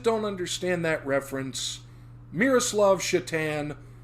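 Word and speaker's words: Šatan: woman says oh yes your ticket's ready mr satan and he says actually it's pronounced chatan and she says oh like the hockey player for those that don't understand that reference miroslav shatan spelled s-a-t-a-n but with um uh tick mark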